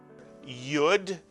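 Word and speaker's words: יוד: of the Hebrew alphabet the letter yud which is like the English letter Y and it acts just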